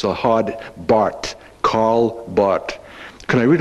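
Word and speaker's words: Barth: His name is spelled B-A-R-T-H. And in German, you don't pronounce the H. It's the hard Bart, Karl Bart.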